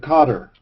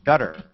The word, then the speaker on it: Qatar: the Persian Gulf slightly Northwest of Cotter or Qatar however they pronounce it these days gutter like where your mind is Mister don't censor